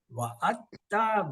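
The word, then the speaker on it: وَعَدْتَ: These three letters, they don't pronounce this sakun because there is a shad. When there is a shad, this and directly join the ta. So dal is not pronounced in these three.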